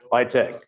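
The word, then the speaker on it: LITC: Uh I I'll I'll say the letters but it's usually pronounced as a as a word. L ITC litech.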